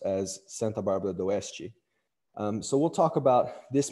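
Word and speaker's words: Santa Bárbara d'Oeste: Paulo, in the city that you heard me pronounce as Santa Bárbara do Oeste.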